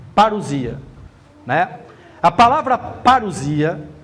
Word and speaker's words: parousia: Aquela palavra vinda, de Mateus 24, é a palavra parousia, se pronuncia parúcia, erúcia, parúcia, parousia, né?